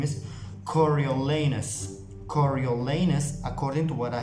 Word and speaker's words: Coriolanus: you pronounce coriolanus snow it's supposed to be coriolenus i think cory to